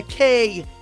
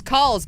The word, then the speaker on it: Kuhls: Cool. Did I nail it? Yeah, you got it. Yeah, Kuhls. I'm going to describe it so y'all know how special that pronunciation was. There were like 3 or 4 we were cycling I thought through. it was calls, but I was wrong.